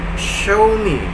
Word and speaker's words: Xiaomi: wi-fi wi-fi Oke kemudian Xiaomi Ah teman-teman masih banyak yang pakai perangkat Xiaomi pakai handphone Xiaomi tablet Xiaomi itu kan Hai ke pacarnya Gimana ternyata x-nya itu kita ganti jadi show me show me show me